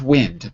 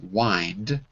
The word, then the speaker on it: wind: We've wind down, not wind, but wind, like you wind a mechanical clock. So these wind and wind look the same, but they have two different pronunciations.